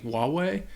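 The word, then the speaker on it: Huawei: Tôi nghĩ rất nhiều người sẽ nói Huwawei. Họ sẽ phát âm H. Mặc dù tôi nghĩ rằng nó chỉ có thể là Huwawei.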